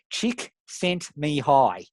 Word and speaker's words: Csikszentmihalyi: Saguna calf X and how to pronounce Macaulay csikszentmihalyi yeah chick sent me hi is the way that you there's the little manam ik you have to use took me ten years to figure it out do your undone tasks